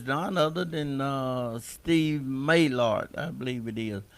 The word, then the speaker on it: Maylar: guest today is Don other than uh Steve maylard I believe it is how do you pronounce Steve mailer mailer okay so tell us something about you Steve